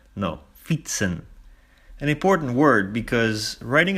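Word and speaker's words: fietsen: Pronounced as fitsen, not fieten or something like that. No, fitsen.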